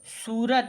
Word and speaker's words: सूरत: तो उसमें जब सा में बड़ा ऊ की मात्रा लगी हुई होती है तो इसका उच्चारण ज़्यादा समय के लिए करते हैं। सा का उच्चारण ज़्यादा समय के लिए करेंगे, सू, रातारत, सूरत।